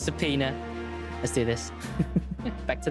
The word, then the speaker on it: subpoena: Sao oh it is seonia oh saona hey subpoena subpoena all right I got it I got it it's subpoena let's do this back to the game with